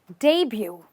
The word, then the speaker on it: debut: is really about but do you call it a debut no not really you shouldn't call it a debut because this word is a debut debut so let's say that